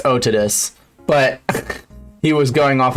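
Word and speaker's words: Otodus: holy i know pronunciation doesn't matter well it's otidus but he was going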